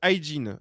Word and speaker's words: Aydin: C'est Oguz Aydin. Aydin, ça s'écrit A-Y-D-I-N.